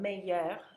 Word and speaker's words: mes: and the second one may with an e on the end is the feminine singular form so that means May with an S and we're not pronouncing the S May with an S